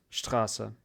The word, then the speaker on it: Straße: А потом Straße. И вы видите странную букву. Она называется SZ, и она произносится как S. То же самое. S. Straße.